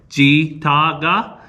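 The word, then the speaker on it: ᏥᏔᎦ: which is in Cherokee, the T-S-I makes a G sound.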